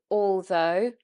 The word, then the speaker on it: although: Now the GH here is silent. GH is often silent or it's said as F in British English words. So it would be, for example, though and although and thorough. There, the GH is silent on all those words.